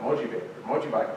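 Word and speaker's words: 文字化け: This right here, for example, is an example of what the Japanese called mojibake. How do you pronounce it?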